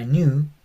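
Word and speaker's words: νῦ: Es como nuestra N y se llama new. Eh, es como nuestra N, se llama new. Y es una N como en nada.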